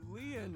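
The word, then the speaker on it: Lien: My name Lean is spelled L I E N. In French, Leen means bond, just like Kuna means bond in Japanese.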